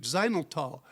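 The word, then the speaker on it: xylitol: it contains less sugar the makers have substitute xylol as a sweetener that's xyl spelled x y l i t o l that's spelled x y l i t o l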